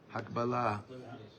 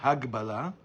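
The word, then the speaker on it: הקבלה: How do you say Hakbalah? Hakbalah. Huh? No. Not Hagbalah.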